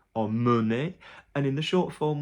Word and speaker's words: emmener: Anything that's MEN in the infinitive is mun, so amener, emmener, and in the short